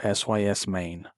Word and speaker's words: SysMain: Next, we're killing a service called System Main, or SYS Main, formerly known as Superfetch. So, go into your Windows services, find System Main, it's spelled SYSMAIN, stop it, and set it to disabled.